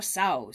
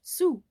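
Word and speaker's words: sou: will cost an extra sow so be careful to count the change but sow is actually sooo it's a French word French word so it should have been pronounced su and it's pretty much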